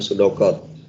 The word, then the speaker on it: pseudocode: Kemudian memahami teks algoritma berupa pseudocode. Apa bacanya tadi? Pseudocode, Pak. Pseudocode ya, huruf P-nya hilang. Seperti kayak psikologi, kayak psikis, itu huruf P-nya hilang kalau dibaca ya di depan itu. Jadi bacanya langsung pseudocode.